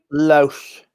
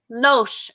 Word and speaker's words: Loesch: Loesch. Loesch.